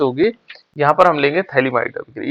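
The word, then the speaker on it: phthalimide: अंग्रेजी में स्पेलिंग क्या होता है, इसमें PH से होता है बेटे शुरू, है ना, थैलीमाइड, PH लिख करके उसको थैलीमाइड, ये PH साइलेंट है इसमें, है ना।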